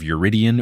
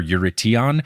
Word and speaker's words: Eurytion: I kept acting like the U was after the R, which it wasn't, and I came so close to catching that, and then I listened to that pronunciation website, and it said it weird, and then I got all screwed up. I've done episodes in the future, so save your emails. I know it's Eurydion or Eurytion or something like that.